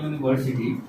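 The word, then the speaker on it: university: तो उसी तरह से यहाँ पे एक एग्जांपल है अ यूनिवर्सिटी। तो यू का उच्चारण हम लोग क्या करते हैं, ये यू करते हैं जो कि कंसोनेंट साउंड है, तो इसलिए इसके पहले आर्टिकल ए का इस्तेमाल होगा।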